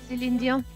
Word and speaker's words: Celine Dion: Celine Dion. Is that the proper pronunciation?